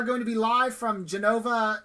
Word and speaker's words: Genova: to be live from genova italy i believe is how it's pronounced and we're going to